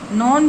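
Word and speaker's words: known: प्रसिद्ध होना ठीक है नॉन फॉर मींस प्रसिद्ध होना इसको के साइलेंट रहेगा इसलिए इसको बोलेंगे नॉन फॉर यानी प्रसिद्ध होना।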